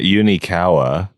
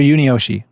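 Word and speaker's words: Yunioshi: Yeah, it's not Unikawa. I have no idea. Okay, so it's Mr. Unioshi. Uniyoshi, right.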